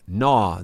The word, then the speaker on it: gnaw: Gnaw. The G is silent.